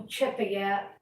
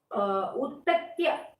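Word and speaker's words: Utathya: Many people changed pronunciation and Uchataya, Uchataya, Uttacha, something. It is Uttatya Gotram and it came from Angirasa only.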